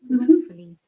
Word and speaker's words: wrongfully: Another important matter, if you remember, Monica and Vim, if there is ng after a word or in between a word, we do not pronounce the g.